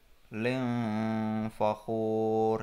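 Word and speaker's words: مختال فخور: Jadi bacanya bukan, kalau idhar jelas dibacanya muhtalin fakhur. Karena ikhfa jadi bacanya muhtalin fakhur. Ling fakhur ya. Ada dengungnya harus terdengar. Jadi tidak lin tapi ling dengung.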